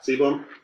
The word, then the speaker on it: sebum: pronouncing that right? Yeah. Sebum.